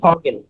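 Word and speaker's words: Vogel: উচ্চারণ, যেমন ফগেল।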